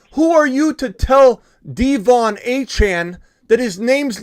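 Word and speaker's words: D'Von: And he said, not only are you guys pronouncing my last name wrong, it's Achane, it's also Devon, not Devon.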